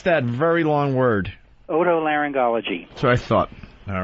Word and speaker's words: otolaryngology: How do you pronounce that very long word? Otolaryngology.